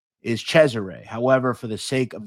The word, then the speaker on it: Cesare: Now, I understand the Sicilian pronunciation is Chzure. However, for the sake of this video, I'm going to use the American pronunciation, Caesar.